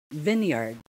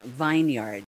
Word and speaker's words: vineyard: did you get it word number five vineyard vineyard not vineyard okay it's not vineyard it is vineyard vineyard next zealous